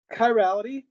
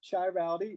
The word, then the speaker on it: chirality: images that is the definition of an antim chirality not pronounced chirality it is pronounced chirality a carbon that has